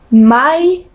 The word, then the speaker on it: mai: Ensuite, toutes les voyelles se prononcent séparément. Par exemple, dans le prénom Laura, ça se dit Laura, Laura. Jamais, ça se dit mai, mai. Puis, ça se dit poi, poi.